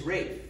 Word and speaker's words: Ralph: now you may wonder why his name is rafe if it's spelled ralph many people have asked me well